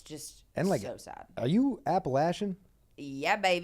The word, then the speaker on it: Appalachian: so sad are you Appalachian yeah Bab did I say it right appalachin yeah appalachin I'm Appalachian as [ __